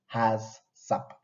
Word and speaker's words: HACCP: critical control points and normally pronounced as hasap hasap this normally pronounced